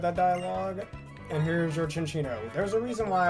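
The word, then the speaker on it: Cinccino: All right, Cookie has evolved into function D or since, you know, I got to say chinchino like it's pronounced in the anime. I love using chinchino as well with either skill link or technician like tail slap and stuff.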